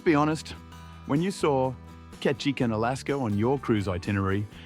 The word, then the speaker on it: Ketchikan: It's not Juno. It's not Anchorage. It's Ketchin." The port stop that sounds like someone sneezing while trying to say catch a fish.